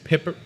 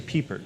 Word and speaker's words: Pippert: So we have, from Muskie Baseball, we have head coach Grant Pippert. It's actually Piepert. Piepert. It's spelled Pippert, though.